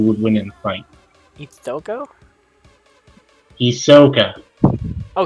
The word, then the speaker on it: Hisoka: Ithoko? Hisoka. Oh, Hisoka. Oh, yeah. Okay. I pronounce it Hisoka.